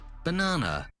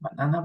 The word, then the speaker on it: banana: In this one, we pronounce the same, banana, banana. But the emphasis is different. In one, the emphasis is in the first letter, banana. The other is in the second, banana.